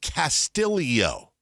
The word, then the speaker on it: Castillo: It's spelled Castillo. Important to note the Tillo. I've never seen that pronounced any way other than Castillo. They pronounce it Castillo.